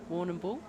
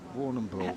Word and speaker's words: Warrnambool: Warrnambool, yep. Warrnambool.